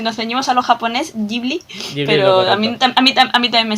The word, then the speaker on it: Ghibli: que es de donde procede el nombre original, y Ghibli la traslación en japonés.